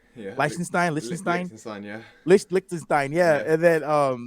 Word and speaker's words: Liechtenstein: And then LCX is the first regulatory compliant exchange, and they're based out of Liechtenstein. I never know if I say it correctly. Yeah, Liechtenstein, yeah.